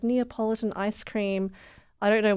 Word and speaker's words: Neapolitan: yeah um I for the longest time had mispronounced Neapolitan ice cream and I'd always called it Napoleon ice cream even my dad thought it was